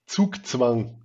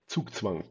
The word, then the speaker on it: Zugzwang: But it's a german word indeed: Zugzwang. Because germans are pronouncing the 'z' in the alphabet like a 's'. Very sharp. Zugzwang.